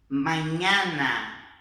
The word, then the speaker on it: mañana: Agora, nas outras palavras que a gente tiver a presença da N, nós vamos fazer som de NH no português, ok? Então vamos lá? Essa aqui, ó, niño, mañana, niño, mañana.